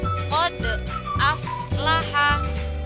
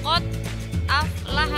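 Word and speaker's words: قد أفلح: perhatikan contoh yang pertama kode aflaha ini bacanya bukan khod aflaha tapi kode dipantulkan Twitternya ini karena darinya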